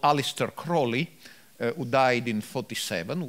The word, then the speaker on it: Aleister: Now, we should mention at this stage that all these good folks in the US were heavily influenced by a magician called Aleister Crowley, who died in 47, was born in 1875.